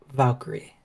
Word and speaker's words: Valkyria: Lyra Valkyrie.